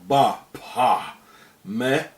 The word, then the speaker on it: Baphomet: Therefore the name should be pronounced without the T at the end. As the early Templars were French, and in French the T at the end is not pronounced, coming to the exact pronunciation in demotic.